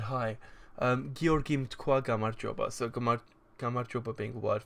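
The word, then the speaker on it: გამარჯობა: It's pronounced Gamarjoba.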